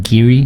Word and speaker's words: Garioch: drinking Glen met cassia Garioch Glenn Garioch I should pronounce again Giri very QE I looked this up knowing this was gonna happen yeah well I know Glen Giri look like Garioch so so while she